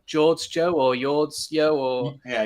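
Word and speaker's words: Jordsjø: And, um, I don't know how you pronounce their name. Is it like George Joe or Yords Yo or Yeah. Yordsio.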